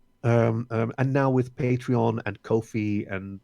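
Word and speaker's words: Ko-fi: now with patreon and Kofi and I think that's how you say it right ko ko - fi coffee yeah yeah it's possible for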